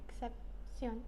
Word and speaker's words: excepción: How do you say exception? Excepción. Excepción. And on ION words, is there always an accent? Yeah. Yes. And where's the accent? At the end.